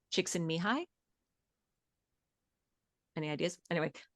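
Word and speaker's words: Csikszentmihalyi: The last name is pronounced chicks and mihi.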